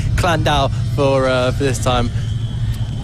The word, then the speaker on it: Llandow: which way is spoken but uh I'll say clandau for uh for this time no I gallery